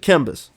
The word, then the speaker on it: KMBus: KMBus or is it KMBus? Just a KMBus. It's like that's how it looks.